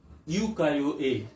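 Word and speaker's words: ukiyo-e: is a pronunciation uko this is a uko a but sometimes question ask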